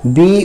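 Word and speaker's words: bow: अगला है बी ओ डब्ल्यू, बी ओ डब्ल्यू, तो बी से ब होता है, ओ से ओ की मात्रा होती है और डब्ल्यू से साइलेंट कर दिया है, यानी बो।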